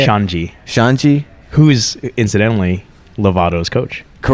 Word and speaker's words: Xande: Shanji.